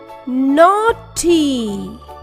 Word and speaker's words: naughty: GH is silent here. Doesn't make any sound. T. Naughty.